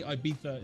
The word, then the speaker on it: Ibiza: my pronunciation of ibiza it is like they say ibiza in spain uh it's a th i don't say ibiza